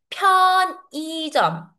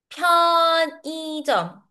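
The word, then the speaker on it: 편의점: 편이점. 편이점. For betterouncing this word, we say. This is how we pronounce. Mhm. Actually ang in this sent in this word we pronounce e instead of saying iy kasi uy it's hard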